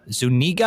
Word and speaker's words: Zuniga: Zuniga I think that's how you pronounce her name.